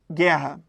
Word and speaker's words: guerra: O GU também é dígrafo. Por quê? Porque o U não é pronunciado.